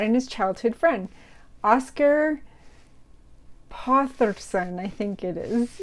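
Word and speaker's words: Þórðarson: And he brought in his childhood friend, Oscar Potherson, I think it is. It's got a kind of D-shaped symbol, but I think it's pronounced a TH and it's not a D.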